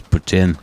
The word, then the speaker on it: poutine: put that in your poutine and smoke it you know CH neck oh God do you pronounce it poutin or Putin it's Putin see okay bear corrected me I got I get